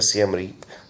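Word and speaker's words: Siem Reap: life but um uh maybe go to C Reep which is spelled s Reep up north where angor watad is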